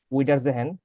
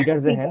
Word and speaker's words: Wiedersehen: choose আউফ উইডারজেহেন, আউফ ভিডার, ভিডার, হ্যাঁ আউফ উইডা না, ভিডারজেহেন, হুম, আউফ ভিডা হ্যাঁ, হইরেন,